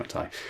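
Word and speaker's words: McTighe: And people always say his name is like Pete McT, but it's not. It's Pete McTai.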